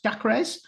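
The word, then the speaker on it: Dacres: then um Josh dakray that crazy pronounced dakres yes not a clay not a clue we'll call him coggers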